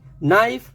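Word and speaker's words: knife: वह तो जानते ही है नो नीड नी नाइफ नॉक नॉलेज सभी में के साइलेंट है के एन के कॉमिनेशन में के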